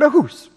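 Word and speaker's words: אחוס: It's the word ahus. I can't spell it for you.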